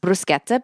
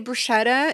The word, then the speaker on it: bruschetta: Yeah, but it's pronounced bruschetta, but we call it that in American or in English as well. Yeah, but if you say bruschetta in Italy, you may combust spontaneously because it's a huge sin to do that.